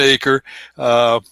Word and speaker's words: Achor: name is acre Victorine pronounced it correctly it's like a parcel of land but I spelled funny a C hor nobody